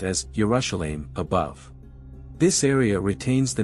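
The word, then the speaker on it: ירושלים: the center with the inscription Jerusalem in Hebrew pronounced as yerusalem above this area retains the name of the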